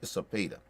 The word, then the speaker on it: Cepeda: It's Cepeda. That's who it is. Cepeda. Yeah, Cepeda. That's his name. I couldn't even pronounce his name.